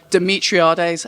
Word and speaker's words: Demetriades: Demetriades. Demetriades. Wasn't. October Red Boxing here with the coach, the trainer, the teacher of KSI, Demetriades.